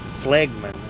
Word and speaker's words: Seligman: like no she said no no no it's it's slman I was like well